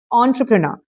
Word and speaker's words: entrepreneur: Entrepreneur. You pronounce the this initial as O. Okay. So you say it entrepreneur.